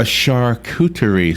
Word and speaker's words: charcuterie: A charcuterie section.